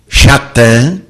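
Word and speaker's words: שטן: do Mau no entanto a palavra Satan hebraico a pronunciada por Jesus schattan não significa Satanás significa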